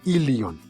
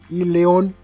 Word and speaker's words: ilion: se corresponderá con el lyon recuerden se pronuncia ya escribe y lee jong no es correcto mencionar y león y león que se corresponden